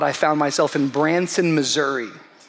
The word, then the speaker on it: Missouri: found myself in Branson Missouri it's gorgeous it's gorgeous um Missour missoury I mean Missouri Missouri Branson M Missouri Missouri Missouri is how you say it God bless all